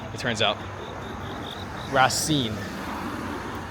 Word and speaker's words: Racing: So, and it is the right pronunciation. It turns out rasine. It's not racing. It's not rasing as in French. It's rasine.